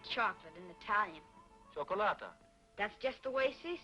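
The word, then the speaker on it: cioccolata: then how do you say chocolate in Italian chocolata that's just the way she said it chocolata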